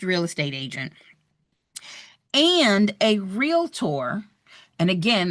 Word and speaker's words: Realtor: You are a licensed real estate agent and a realtor. And again, that's only two syllables there, guys.